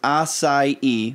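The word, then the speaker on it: açaí: you sitting in on the pink couch it's pronounced assai which do what's the do you know where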